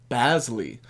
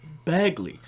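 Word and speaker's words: Bazley: big that had potential, Basley, which is not Bagley. He's Basley.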